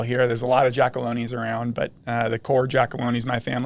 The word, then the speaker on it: Giacalone: I mean, I've got the hard G instead of the soft G.